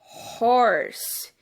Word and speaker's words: horse: Horse. Esse H de horse tem som de R, então ele é um H sonoro. Eu pronuncio esse H e ele tem o som do R.